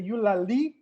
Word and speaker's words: Eulalie: yeah okay you should be on chateau's song you lali and i'm trying to pronounce that with the ulali emphasis uh because my sister is a linguist